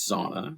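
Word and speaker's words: Sonia: My wife's name is Sauna. She spells it s o n i a and the i is silent.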